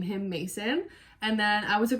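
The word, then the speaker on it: Macyn: So like I said earlier, my name is Mason. It's spelled M-A-C-Y-N.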